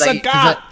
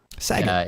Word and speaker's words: Sagat: And it's Sagat. It's like, that's text. That doesn't work that way. Anyway, the way I normally say it rhymes with the word that, you know, Saget. Is like not Bob Saget.